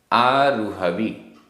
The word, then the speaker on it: आरुहवी: आरुहवी रा में छोटे ऊ की मात्रा है।